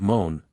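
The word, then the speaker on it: Mone: in this Lake which was called moan pronounced like groan a word of unknown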